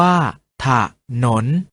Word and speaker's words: ถนน: ออก เสียง ว่า ทหาร ถนน ออก เสียง ว่า ถ้า ถนน ฉลาม ออก เสียง ว่า